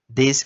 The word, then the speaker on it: this: This como se fosse um D. Se pronuncia como se fosse um D.